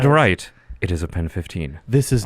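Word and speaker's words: PEN15: Yeah, it's Pen 15. It's like how it's spelled, and it's Like penis.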